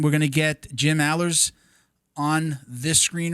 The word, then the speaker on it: Alers: Am I saying it right? Alers? It's Alers. Man, you got it right.